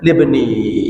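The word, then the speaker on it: لِابْنِي: Dan beliau Abdul Muttalib mengatakan inna libni, aslinya inna li ibni, gitu ya. Iya, bacanya inna libni, yang nasabun taksibul ula bihulahu, di bawah terakhir itu ada apa?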